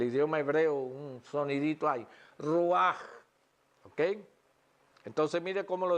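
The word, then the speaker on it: רוח: Dice, ruach, ruach. Siempre producen aquí al final, en el idioma hebreo, un sonidito ahí. Ruach, ¿ok?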